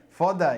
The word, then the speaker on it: foda: Fouda is that would be the Brazilian pronunciation.